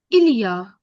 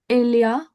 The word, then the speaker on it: il y a: It's not a single word, but it's pronounced together. अगर मैं अलग-अलग बोलूं, so il, e, a. ये तीनों अलग हैं, इनको साथ में नहीं लिखना है. But ilia There together are.